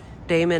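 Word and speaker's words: Damen: we got our installation i'm gonna keep going damon avenue okay not demon avenue a lot of people pronounce our streets wrong like devon avenue you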